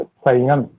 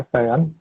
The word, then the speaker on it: शयन: Option में भी मैंने दिया हुआ था एक संयन, संयन का विलोम क्या होगा? किसका भैया? संयन का विलोम, संयन, शयन का जो शयन नहीं है, और जो मैं गलत उच्चारण कर दिया हूँ, शयन, शयन है शयन, शयन का जो विलोम